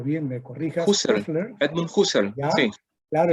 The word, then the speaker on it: Husserl: Y tú haces la presentación mencionando a Edmund, no sé pronunciarlo bien, me corrijas. Husserl, Edmund Husserl, ¿ya?